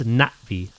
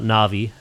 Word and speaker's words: Na'vi: It's Natvi. It's not Na'vi.